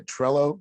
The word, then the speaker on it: Trello: not with gladiator onto uh so I was pronouncing it wrong say Trello am I saying it right now yeah and